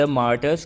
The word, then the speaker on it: martyr: और आज हम मालगु डेज की 19वीं short story the मार्टर्स corner देखने वाले हैं। इसका सही प्रोनाउंसिएशन है मार्टर।